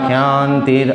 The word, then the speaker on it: ক্ষান্তি: অমানিত্বম মদাম্ভিত্বম অহিংসা ক্ষান্তির আর্জবম আচার্য উপশনং শৌচং স্থৈর্যম আত্মবিনিগ্রহ। অমানিত্যম অদম্ভিত্যম, প্রত্যেকটার একটা অ আছে। অমানিত্যম অদম্ভিত্বম অহিংসা ক্ষান্তির আর্জবম। ওটা কিন্তু শান্তি না, ওটা ক্ষান্তির উচ্চারণ হবে।